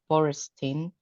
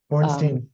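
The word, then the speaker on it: Borenstein: And what comes to me is sorry, I think I butchered his name, Boristin. Bornstein, yeah.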